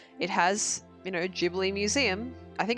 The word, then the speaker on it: Ghibli: good eager Shikari says I thought it's supposed to be a hard G in Ghibli no no no it's a jeopardy and I know that